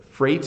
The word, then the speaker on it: freight: this is freight so freight is something that goes on a train so this is a freight train and you can see again e IG H freight makes a an a sound so eight weight Freight